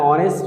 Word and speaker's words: honest: অনুচ্চারিত, an AR, an honest man, an honorable man, an hour. So you follow, these words have begun with H, but the sound of H remains silent here.